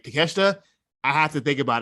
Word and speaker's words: Takeshita: we got Jon Moxley versus how do you pronounce his name? As Konosuke Takeshita. Takeshita. In my mind, I want to say Takashita every time I see his damn name. I know it's not. I know it's Takeshita.